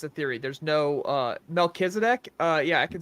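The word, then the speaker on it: Melchizedek: to note it's a theory there's no uh melkisedek uh yeah I can spell that that's m l c h i z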